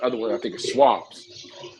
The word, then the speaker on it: Schwab: Not E-Trade, Fidelity, or the other one I think is Schwab's. Schwab. Yeah. Did I say it right? Schwab, yeah. So yeah, Charles Schwab, yeah, who I'm gonna fuck with.